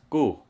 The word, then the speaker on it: cu: so in our language the word cu is pronounced as ku and it literally means